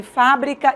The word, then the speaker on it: fábrica: dessas palavras por exemplo como é que você faz a diferença entre fábrica e fabrica você faz pelo acento em fábrica é um substantivo a palavra é acentuada em fabrica eu tenho uma forma verbal e a palavra não é acentuada você percebe a mudança de pronúncia e a mudança de sentido a mesma coisa se